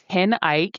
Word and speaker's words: Ten Eyck: So, I mispronounced this for years. It's actually Ten Eyck and I just learned this within the past six months.